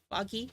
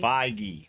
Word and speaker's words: Feige: They say Kevin Feige. Foggy. Okay. I don't know why I want to say Figy. I don't know why I want to give it a soft G.